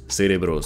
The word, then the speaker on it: cerebros: Cerebros, cerebros, cerebros. So that means brains, brains. But in Spain, it should be pronounced cerebros. Th, like in think.